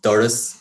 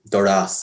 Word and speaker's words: doras: don't notice this but the default in all dialects is for the main stress in words to fall on the first syllable so we say things like uh doris and solas and we don't say doras and solas and generally speaking there